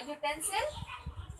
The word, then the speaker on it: utensil: A utensil. So student, it start with vowel, but when we pronounce utensil, so it sound will be consonant sound.